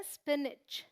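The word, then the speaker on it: spinach: ठीक है, ये है पालक, इसे बोलते हैं स्पिनिच।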